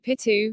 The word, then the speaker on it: Picchu: For most speakers of English or Spanish, the first C in Picchu is silent. In English, the name is pronounced M2Pi2 or M2Pi-K2, in Spanish as Machu Picchu or Machu Picchu, and in Quechua, Machu Picchu, as map parked.